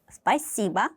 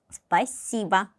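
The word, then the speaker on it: спасибо: C를 굉장히 강조해서 발음을 하셔야 돼요. 그래서 원어민과 가까이 비슷하게 발음을 하시려면은 이거 자신있게 발음하셔야 돼요. 스파이시바 스파이시바 감사합니다.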